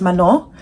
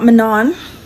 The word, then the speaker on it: Manon: But I know it is Mano. I I know that she gets frustrated sometimes and people don't pronounce her name right.